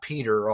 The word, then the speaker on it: Petr: And it's Petr, not Peter, although you can pronounce it Peter if you want to. It's Petr because it comes from, he was a foundling, and he was found in a petroleum barrel washed up on the beach.